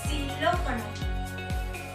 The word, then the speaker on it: xilófono: La segunda forma en la que podemos pronunciar el sonido X es cuando la X se encuentra al inicio de una palabra y suena como S. Por ejemplo, en la palabra xilófono. Para pronunciar esta X, únicamente tenemos que elevar la punta de la lengua y colocarla muy cerca de los dientes. Pero podemos y debemos cuidar que no haga contacto con nuestro paladar para así permitir la salida del aire.